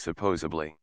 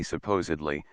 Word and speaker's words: supposedly: the English paper himself this is a case of simple mispronunciation speakers of this non word really should say supposedly since the root word is supposed which means to assume there is no B sound in this word you should be sure